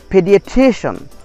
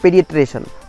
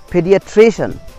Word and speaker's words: pediatrician: And last one is pediatrician, pediatrician, not pediatrician, pediatrician.